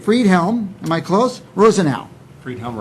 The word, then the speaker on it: Friedhelm: Friedhelm, Rosenau, yes.